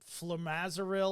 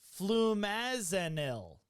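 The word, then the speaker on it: flumazenil: They ended up doing, what is it, the flumazeril or something? I know how to spell it. I don't know how to say it. Flumazanil.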